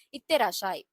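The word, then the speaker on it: いってらっしゃい: ஸோ அதுக்கு வந்து ஜாப்பனீஸ்ல இத்தேராஷாய்.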